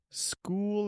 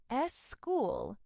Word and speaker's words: school: But in English, this extra vowel adds a syllable. School is one syllable. S school is two syllables.